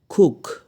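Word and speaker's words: cook: pilot pilot না পাইলটও না pilot বিমান চালক খুক উচ্চারণ কুক না সি ডবল ও কে উচ্চারণ কু না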